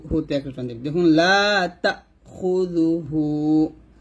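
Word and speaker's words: لَا تَأْخُذُهُ: জবর তা, ধাক্কা দিবেন, লা তা খুযুহু লা তা খুযুহু, হুতে এক টান দিবেন, দেখুন লা তা খুযুহু, এখানে এই যে কমাটা দিয়ে এই হামজার উচ্চারণটা বোঝাইছে, লা তা খুযুহু লা তা খুযুহু, এরকম।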